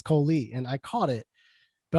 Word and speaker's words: Colee: I said Cole. It's Colee.